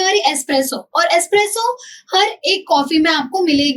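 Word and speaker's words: espresso: हाउ डू we pronounce it एस्प्रेसो। एस्प्रेसो क्या होती है? बहुत गाढ़ी और यू कैन से छोटी कॉफी होती है। ठीक है? जो कंसंट्रेटेड फॉर्म ऑफ़ कॉफी है वो होती है हमारी एस्प्रेसो।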